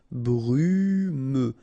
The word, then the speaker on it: brumeux: Okay, final X not pronounced, so you get this E and then U. Brumeux.